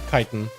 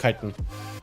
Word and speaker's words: chitin: I need to get gloom chitin. Apparently it's called chitin, not chitin.